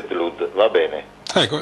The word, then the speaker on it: Blood: O, vero? Perché ha due O. Sì. E allora si legge Blood, va bene.